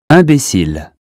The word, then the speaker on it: imbécile: That consonant tells us not to say in or im, but un. Here's how to say them correctly. Repeat them after me. Imbécile, inclination, information, injuste, important, instant, intact.